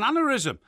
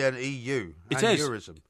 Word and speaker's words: aneurysm: don't worry about it I'm sure it's a and euism aneurysm aneurysm it's it's pronounced aneurysm and it's a well-known medical condition okay I